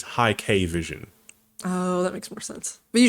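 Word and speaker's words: Hikvision: is pretty good and they were pronouncing it as high K vision makes more sense but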